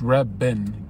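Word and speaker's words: Reventón: I remember someone was trying to debate me that the Reventon, or it's Reben, right? With a V, but you pronounce it like that.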